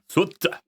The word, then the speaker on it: Souta: It's pronounced completely different in Japanese. Souta.